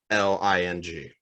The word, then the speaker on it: Xialing: Xiling, I believe. Xiling. Okay. It's Xialing. Okay. Xiling. Xiling, I believe, is the correct pronunciation.